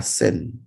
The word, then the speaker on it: Seine: Parce que l'histoire de Paris est intrinsèquement liée à ce cours d'eau qui traverse entièrement Paris, la Seine. Vous avez bien entendu, j'ai bien prononcé Seine.